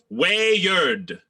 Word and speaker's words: weird: in hand near-yard what where yard two syllables mr forrest used to tell the boys to pronounce it that way didn't go over well